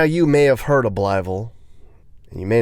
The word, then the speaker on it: Blytheville: This is Blytheville, Arkansas.